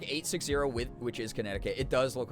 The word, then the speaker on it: Connecticut: who can't help pronouncing the second scene in Connecticut? Oh, I do that as a joke all the time, Kyrion, where I'm like connecticate. It's it's it's way I don't know why I love to like destroy the pronunciations of places and certain words.